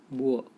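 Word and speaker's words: boor: इन्हें अनपढ़ गंवार बोल देते हैं, तो उसके लिए इंग्लिश का वर्ड होता है बुअर। बुआ, आर साइलेंट ही रहते हैं पे, बुआ बोल सकते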